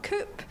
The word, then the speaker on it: Coop: I'm Michelle Sanderson, also known as Michelle Coop, which rhymes with poop. My niece calls me Mrs. Soup Poop Coop.